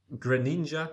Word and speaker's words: Greninja: only be one is Greninja I would say pronounce it yeah grin like the Pokemon Greninja Greninja yeah he bought he's